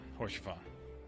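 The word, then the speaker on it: Haurchefant: Is that for Isal, or however you pronounce her name? Oh no, it's Horsefon. From here, Lord Orshafon can watch over all of Ishgard.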